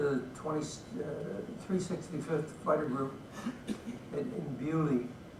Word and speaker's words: Beaulieu: I was assigned to the 365th Fighter Group in Beaulieu. It shows you what the British do to the French language.